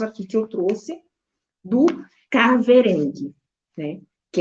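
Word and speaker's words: kahverengi: que eu trouxe do caverang né que é o a cor marrom ela se ela se escreve com k a h como eu falei no português a gente não tem o som do H né Por exemplo é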